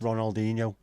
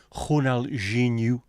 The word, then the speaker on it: Ronaldinho: Ronaldinho is not pronounced Ronaldinho. It is Ronaldinho.